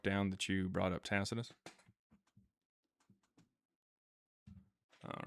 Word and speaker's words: Tacitus: Tacus. Tacitus.